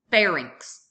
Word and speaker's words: pharynx: Remember, Y is pronounced as I, R-I-N-X. Rinx, pharynx, larynx.